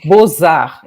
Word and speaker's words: Beaux-Arts: Belas Artes, se chama Beaux-Arts em francês, né? Então, Beaux-Arts se escreve B-E-A-U-X, Art, A-R-T-S. Aí eles mudaram o nome do museu para Beaux-Arts, assim, B-O-Z-A-R, que é como se pronuncia.